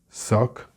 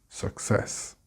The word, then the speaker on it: success: Success, with the stress on the cess, success.